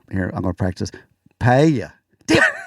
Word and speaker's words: paella: ended up with, here, I'm going to practice, paella. Damn, paella. Oh, you almost had it. I have the worst time not pronouncing Paella?